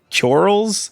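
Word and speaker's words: Coeurl: It is pronounced like curl.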